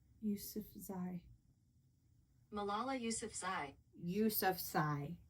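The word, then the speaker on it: Yousafzai: Ysef Z. Ysef Z.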